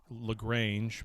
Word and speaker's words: Lagrange: uh eve echoes and infinite lagrange which is pronounced lagrange but whatever um yeah like like like the